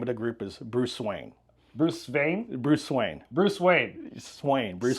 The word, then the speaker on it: Swain: It's a Nordic derivation or original origin for my last name, which is Swain, S-W-A-I-N. But Swain, if you spell it phonetically, it's S-V-Y-E-N.